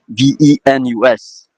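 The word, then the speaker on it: Vénus: also the word venu V E N U S which is the past participle of the verb to come virus and you pronounce in that case the s Venus that's one of the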